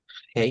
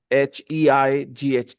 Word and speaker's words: height: High, Hey. height, height, height. Okay. Height. Height. We pronounce it height.